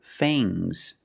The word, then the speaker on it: fangs: Use a long A plus the nasal sound, mm, and a soft G. Fangs, fangs. And the S is making a zebra sound, zzz, but it's soft.